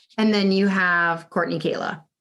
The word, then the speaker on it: Kahla: say your last name it's actually kayla but kayla oh yeah i mean i wouldn't expect anyone to read it and think that the h is a y i mean my last